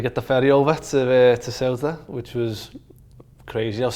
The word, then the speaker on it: Ceuta: There was a team called AD Ceuta. Ceuta, yeah.